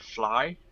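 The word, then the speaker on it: vlaai: Netherlands and it's h it's called a fly and that's not like f l l y but v l a a i okay that's the way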